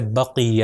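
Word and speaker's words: بَقِیَّہ: تو اس کا تلفظ ہے بقیہ. اگر میں کہوں بقیہ تو یہ غلط ہو جائے گا، اے کی ساؤنڈ نہیں آنی چاہیے بلکہ ای کی ساؤنڈ آنی چاہیے، بقیہ.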